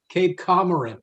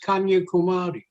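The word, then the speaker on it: Kanyakumari: brahma not burma the british mispronounced it they mispronounced that they call it calcutta they call it cape cape cameron it's kanye kumari it's mumba devi is the deity of bombay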